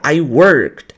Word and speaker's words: worked: no no YouTube ó você não pronuncia a vogal a letra e nos verbos no passado então isso aqui é uma